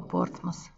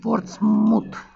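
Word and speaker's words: Portsmouth: все знают а вот они говорят что надо произносить портсмут портсмут но ток так никто не произносит говорят порт масс английское произношение порт масс и никуда не деться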